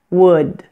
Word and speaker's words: would: oh oh and finally the last thing to be aware of with wood PUD and should is to make sure that you pronounce the final D sound in the word your language may not end words with this sound but in English it is very important now let's put all of